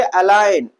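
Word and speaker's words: align: क्या पढ़ेंगे, अलाइन। हम क्या पढ़ेंगे, डिजाइन। क्या पढ़ेंगे, साइन। और क्या पढ़ेंगे भैया, फॉरेन। क्या पढ़ेंगे, फॉरेन। तो ऐसी जगह पर हम जी का प्रोनाउंसिएशन नहीं करते हैं।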